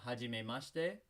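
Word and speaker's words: はじめまして: In Japanese, sometimes when you see the shi sound like you do over here, it's going to sound like sh instead of shi. Hajime mashite.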